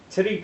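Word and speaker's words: Tite: Here, you pronounce his name. Ichigo? No, not Ichigo, the artist and writer. Oh. Titty Kubo.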